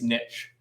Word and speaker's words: niche: of trying to go is it niche or niche today it's niche okay so let's talk about